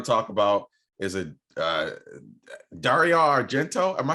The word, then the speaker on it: Dario Argento: And the last one I'm going to talk about is a Dario Argento. Am I saying that right? Dario Argento.